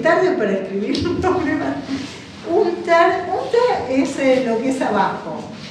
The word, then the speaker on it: unter: En alemán no se pronuncian las R porque es norótico, no es unter, es unter, ¿no? Unterdruck. Eso se lo traducen por sofocación. Por eso, por ejemplo, en el apellido Schuster no es Schuster, es Schuster. No se pronuncian las R al final.